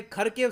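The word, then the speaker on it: Kharkiv: Already news आ रही है कि खरकिव सिटी, बाय द वे हम लोग इसको खरकिव कहते हैं, इंटरनेशनली इसको खरकिव बोलते हैं, मगर यूक्रेन में ये लोग इसको प्रोनाउंस करते हैं हरकिव सिटी।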